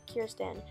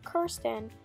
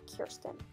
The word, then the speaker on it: Kirsten: to address that I know her name is pronounced Kirsten but my parents when they got me her in kindergarten pronounced it Kirsten so I always pronounced it Kirsten and not Kirsten and so I'm going to continue to do